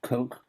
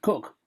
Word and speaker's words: Coke: 1592 to 1607 and sir edward cook pronounced cook not coke cook attorney general to